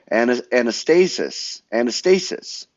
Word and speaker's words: anastasis: Anastasis, that's number 3. I think I pronounced that right.